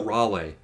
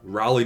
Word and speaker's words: Raleigh: It's like North Carolina. They said Cal Raleigh. Cal No, Raleigh. North Carolina. Cal Raleigh.